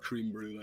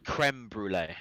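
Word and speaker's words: crème brûlée: Not sure it's pronounced cream brulee. I Whatever the haven't heard fuck it anything is. more British than that in a long time. Creme brulee.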